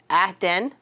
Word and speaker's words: Aaron: We had an Irish foreign exchange student, Aaron, and that is how we were to pronounce his name as Aden.